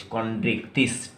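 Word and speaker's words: Chondrichthyes: Pronunciation बड़ा clear रखना बच्चों, CHONDRICH, कॉन्ड्रिक्थिस, THYES, कॉन्ड्रिक्थिस।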